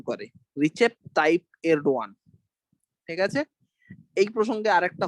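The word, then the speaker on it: Erdoğan: এডও এডওয়ান এবার ব্যাপারটা হচ্ছে যে ইংরেজি নামটা এই ই আরডি ও এন ঠিক আছে এবার এলডোগান না এলডো তুর্কিরা তুর্কিরা এটাকে এলডোই উচ্চারণ করে রিচে টাইপ এলডওয়ান ঠিক আছে এই প্রসঙ্গে আরেকটা হোমওয়ার্ক দিয়ে রাখি।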